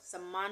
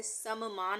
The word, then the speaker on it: सम्मान: त का उच्चारण होगा उसी तरह से सम मान नहीं है यहां पे सम्मान है तो सम आधा मा